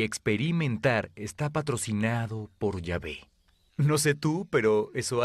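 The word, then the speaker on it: Yahweh: a ustedes éxodo 314 en hebreo yo soy se pronuncia llave ese nombre para dios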